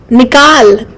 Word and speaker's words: निकाल: But there's a below, like it's nikal.